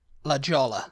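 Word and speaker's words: La Jolla: A next word j o l l a Lola California yeah uh the next one Lola yeah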